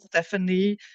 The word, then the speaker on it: Stephanie: it's pronounced Stephanie, and sometimes people get quite defensive and say,